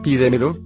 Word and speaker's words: pídemelo: Finalmente, la palabra pídemelo lleva la mayor fuerza de voz una sílaba antes de la antepenúltima sílaba, y según el cuadro, si se tilda.